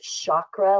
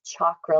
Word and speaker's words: chakra: You may have heard the word pronounced chakra, like Shakira, but it's actually pronounced chakra, like chocolate.